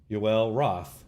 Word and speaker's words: Yoel Roth: Yoel Roth.